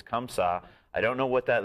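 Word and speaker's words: Comme Ça: And also, let's tell people how to pronounce it. It's Comme Ca.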